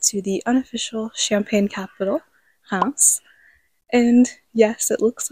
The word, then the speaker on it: Reims: that and head to the unofficial champagne capital house. And yes, it looks like reims in English, but the French pronounce it house. And this is my first time here. Reims is apparently known for its cathedral, and then